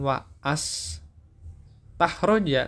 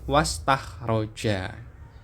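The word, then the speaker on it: واستخرج: Nah, bacanya nanti bukan wa as tahroja, tapi was tahroja.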